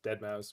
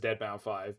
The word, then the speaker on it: Deadmau5: I know the way that people usually pronounce that is Dead Mouse, but I almost always pronounce it as Deadmau5 because I think it's funny.